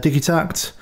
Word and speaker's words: Digitakt: 303 clone electron uh digi tact is i think how you'd actually pronounce that and um bearing a